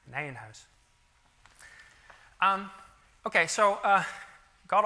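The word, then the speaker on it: Nijenhuis: word on pronunciation so I often hear this pronounced as Nan ho or something like that okay so I think Albert nanh house was a Dutch mathematician so it's called Nan house um okay so uh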